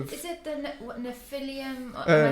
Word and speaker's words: Nephilim: So, that's like linked to all sorts of Is it the Nephilim? Am I saying it right? Nephilim. Nephilim.